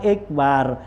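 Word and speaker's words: إكبار: Wa ikbarun bi kasril hamzah, kalau ikbar tuh bacanya dengan hamzahnya kasrah. Kalau tadi akbar, sekarang ikbar gitu ya.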